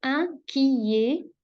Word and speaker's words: inquiet: شايفين ال ET دي بتتنطق ايه واللي قبلها ايه يبقى inquiet.